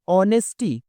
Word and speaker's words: honesty: क्या मतलब हुआ ईमानदारी ऑनेस्टी यह एच से स्टार्ट है लेकिन इसका प्रोनाउंस ओ से करते हैं एच यहां पर साइलेंट रहता है ऑनेस्टी यानी ईमानदारी और